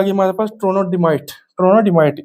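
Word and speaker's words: trondhjemite: अब ये जो दूसरे वाली आ गई हमारे पास ट्रोनोडिमाइट, ट्रोनोडिमाइट इसमें एच और जे साइलेंट है और ट्रोनोडिमाइट बोलते हैं इसको बेसिकली।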